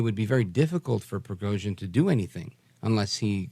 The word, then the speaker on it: Prigozhin: But anyway, that plane crash in Russia, which I'll try to say his name, Yevgeny Prigozhin or something? Prigozhin, right.